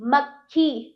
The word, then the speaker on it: मक्खी: हल्का सा उच्चारण क, वरना क्या होता है? अगर यहाँ पे पूरा कहा जाता तो आप क्या करते? मक्खी। मक्खी, ये गलत है। तो हमें यहाँ पर हमें आधे का की आवश्यकता है, ना कि पूरे का की। सही उच्चारण के लिए हम आधा का लगाकर म प्लस क प्लस खी, मक्खी।